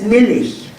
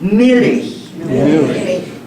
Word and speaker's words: Milch: It's Milch. No, you say it. Milch. Milch. You gotta spit saliva when you talk about it.